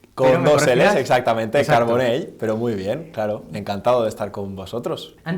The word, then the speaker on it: Carbonell: Siempre pronuncio mal Carbonell. Con dos L's, exactamente, exacto. Carbonell, pero muy bien, claro, encantado de estar con vosotros.